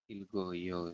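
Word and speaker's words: 읽어요: ilgoyo. Ilgeo. Bacanya gimana itu, Sam? Ini tulisannya geo tapi dibacanya Hmm? go. Ilgoyo berarti.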